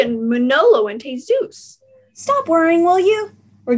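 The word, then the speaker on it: Jesús: it it's manolo and jesus manolo and cheese juice you don't pronounce the j where's the j and manolo and t zeus stop worrying will you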